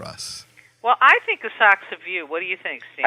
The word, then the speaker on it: Asakusa: No, it's a Socks of You because in Japanese, that I'm so fluent, you don't pronounce the U. I don't know why it's there, but so it's a saksa.